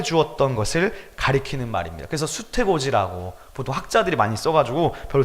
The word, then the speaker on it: 수태고지: 이것은 수태고지라고 읽습니다.